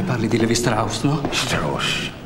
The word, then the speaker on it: Strauss: Strauss, si pronuncia Strauss.